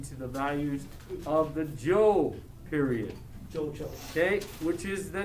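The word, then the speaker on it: Zhou: the values of the joe period okay which is the next dynasty so the shang is the first dynasty the second dynasty is the joke spelled with the z-h-o-u so if i was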